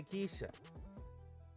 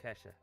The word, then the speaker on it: Kesha: I can't play Kishha. Yes, I know it's pronounced Kesha.